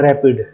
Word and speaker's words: RAPD: इस molecular marker को Wales, मैकलैंड और विलियम ने डेवलप किया था और इसे प्रोनाउंस किया जाता है रैपिड। प्रोनाउंसिएशन जो इसका है वो थोड़ा डिफरेंट है, रैपिड बोला जाता है।